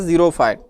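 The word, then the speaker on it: xerophyte: Next है आपके पास जीरोफाइट। X silent है, तो आप इसे जैसे भी पढ़ लें, इसे हम कहते हैं ज़ीरोफाइट।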